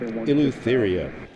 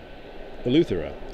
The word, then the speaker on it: Eleuthera: North Eleutheria, I guess. Eleutheria or Eleutheria? Thera. Eleuthera. Okay, Eleuthera.